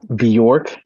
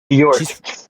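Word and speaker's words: Björk: Oh, a Yeah, she's um she's from York. B York. It's like Bork, right? It's kind of like that. Yeah. Bork.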